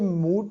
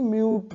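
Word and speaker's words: mute: silent करना तो यह एम यूटीसी म्यूट पढ़ते इसको मूड नहीं म्यूट या मोटे तुम मोटे नहीं यह म्यूट पढ़ा जाएगा बजट यूबी इसको क्या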